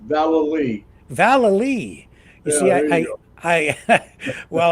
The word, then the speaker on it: Vallely: you Rick the pronun pronunciation of my name is actually an old Irish name Val Val you see I I